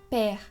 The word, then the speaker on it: père: Es como la E que usamos en la palabra comer. Entonces, ¿nos puedes dar un ejemplo en francés de una palabra que se pronuncia con la E? Père, Sí, que es padre en francés.